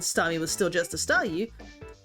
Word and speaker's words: Staryu: was still just a Staryu, I could never pronounce its name right, it always ended up sounding like saw you.